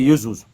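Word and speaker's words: Ἰησοῦς: Yeszus, je crois si je lis pas si je prononce bien. Yeszus. Voilà. Yesézus. OK. Donc Yzus, voilà. Donc en réalité, c'est Yzouus.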